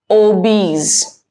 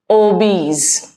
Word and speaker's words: obese: Obese. Obese. ध्यान रखें, the correct pronunciation is obese and not obese.